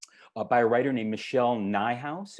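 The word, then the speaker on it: Nijhuis: a writer named michelle nye house it rhymes with my house this is a book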